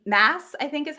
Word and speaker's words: Maas: Mass, I think is how you say her last name, and they're just so fun.